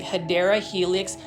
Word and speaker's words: Hedera helix: Now, this is one of my favorite plants to yell the name Hedera helix, or what you call, the correct way to say it is actually Hedera helix or English ivy.